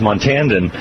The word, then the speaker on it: Montandon: different kinds of names Montandon is a proper pronunciation of his last name I apologize for that